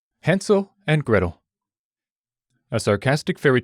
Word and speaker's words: Hansel: Actually, it would probably be pronounced Hansel, but there's no way I'll remember that, so let's stick with Hansel.